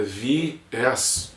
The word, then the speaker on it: viés: E viés não é monossílabo, né, cara? Tem duas sílabas, é viés, pelo amor de Deus.